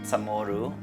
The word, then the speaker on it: CHamoru: One is because there is no C in Chamorro language in the pronunciation, so there's a CH.